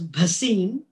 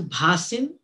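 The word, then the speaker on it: Bhasin: just want to say that my surname is pronounced as basin not as basin just so that you know kamla bhasim so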